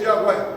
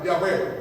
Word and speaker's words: Yahweh: El nombre de Dios no se puede pronunciar porque no tiene vocales. Así que lo más parecido al nombre de Dios es Yahweh, Yahweh, Yahweh. Pero porque le han puesto letras.